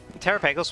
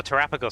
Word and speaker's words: Terapagos: Cuz uh Terrapeos was set up as like or Terrapagos, sorry, I keep saying it wrong.